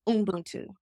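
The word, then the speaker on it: Ubuntu: he says it's umbuntu and it comes from an African word. Umbuntu is spelled U B U N T U.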